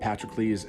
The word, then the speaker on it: Patroclus: I realize that Patroclus isn't necessarily the most common pronunciation of the name, I guess, but that's the one I learned long ago.